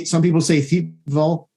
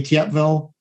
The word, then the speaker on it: Thiepval: Yeah, some people say Thiepval, some people say Thiepval. Those are sort of anglicized and like a Franco way of pronouncing that location, either which is going